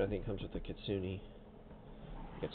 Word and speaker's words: Kitsune: This is the expansion, I think, comes with the Kitsune. That's how you pronounce that word.